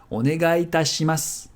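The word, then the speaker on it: お願いいたします: And since onegai and itashimasu respectively end and start with the same vowel, they're going to merge. Onegai itashimasu.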